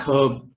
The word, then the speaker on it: herb: The letter H may also be silent at the beginning of certain words like honest, honor, air, herb. Yeah, that's herb, not herb.